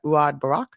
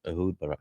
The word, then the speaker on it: Ehud Barak: backed by former Israeli Prime Minister, I can't pronounce that, Uad Barak, right? I don't know which one. Yeah, keep going. Yeah. It's fine. But yeah, so just to Ehud close, Barak. Yeah, Ehud Barak.